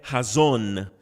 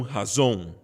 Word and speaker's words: Hazon: com vocês também que a pronúncia correta é razona e não razón a zona que em